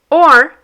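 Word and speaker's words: hoje: Agra ag for example for the word o which means Today the letter is silent in Portuguese.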